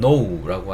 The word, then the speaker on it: know: know라고 하시면 되는데, 단어 스펠링을 가만히 살펴보면 K로 시작을 해요. K가 왜 있는데 왜 키읔 소리가 안 나지? 이렇게 생각하시는 분들이 있을 거예요. 그쵸? 근데 여기서 이 K는 소리를 내지 않습니다.